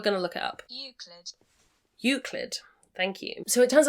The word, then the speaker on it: Euclid: Robinette, and I'm going to try and pronounce this Euclid? We're going to look it up. Euclid.